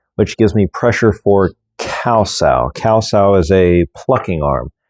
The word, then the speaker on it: kau: gives me pressure for cows. Cows is a plucking arm. It sounds like the animal cow, but it's spelled K A U instead of C O W.